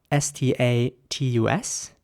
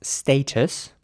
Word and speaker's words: status: The next word is spelled S-T-A-T-U-S. And in British English, this would be pronounced status. And in American English, it would be status. So again, with an A sound and a very soft T.